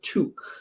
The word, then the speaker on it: toque: sure what 11 is we would call that hat a took t-o-q-u-e or some people call